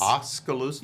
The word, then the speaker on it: Oskaloosa: Oskaloosa.